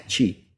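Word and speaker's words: Χ: Ini adalah huruf Chi, tulisannya CH pembacaannya, tapi nulisnya adalah X seperti ini, bacanya Chi.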